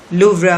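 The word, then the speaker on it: Louvre: Ceremonial dinner eight iconic लूव्रा museum on July 14। अब लूव्रा museum, लूव्रा या लूव्रे कहा जाता है, उसमें इसमें प्रोनाउंसिएशन फ्रेंच में कुछ और है, लेकिन इंग्लिश में आप लूव्रा म्यूजियम कहेंगे इसको।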